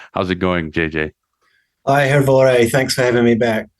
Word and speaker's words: Hrvoje: Hi, Hrvoje. Thanks for having me back. I need to make sure I'm pronouncing your name right.